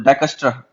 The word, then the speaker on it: Dijkstra: अब देखो ये DIJKSTRA ऐसा कुछ है, तो इसका जो प्रोनाउंसिएशन है वो डाइक प्लस स्ट्रा, STRUH ऐसा कुछ, डाइकस्ट्रा ऐसा कुछ करते हैं।